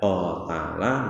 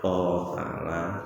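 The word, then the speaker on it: قَاتَلَ: Jadi terkait bacaan qatala napa qutila. Kalau bapak ibu membaca dengan qutila juga dibenarkan, boleh membaca qutila, nggih. Tetapi ulama-ulama yang muktabar membacanya qatala dengan panjang ya.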